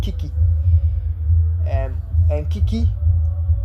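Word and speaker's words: 危機: Um, and Kiki is essentially a two syllable word. The first key is danger and the second key is opportunity.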